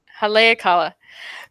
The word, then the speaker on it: Haleakala: Yes, you said it right the second time. Haleakala.